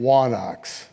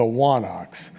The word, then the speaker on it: wanax: In Linear B, that word appears with a letter that went out of use by classical Greece called a digamma, and it's pronounced as a W, so wa and then onox is the idea.